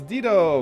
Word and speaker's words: Dido: I know it's pronounced Dido, but I've always called her Dido.